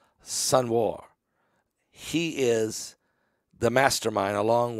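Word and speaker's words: Sinwar: a r sen War I think you say it sun War he is The Mastermind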